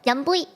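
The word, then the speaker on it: 飲杯: Yum bui. Like Y-U-M. Yum. Yum. Like yummy. Yum. And then bui. Like B-U-I. Bui.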